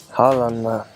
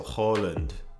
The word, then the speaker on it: Haaland: Two A's is O in Norway, but we're not in Norway now. Haaland, I like it more, to be honest. Okay, so Haaland is what I should have been saying instead of Haaland.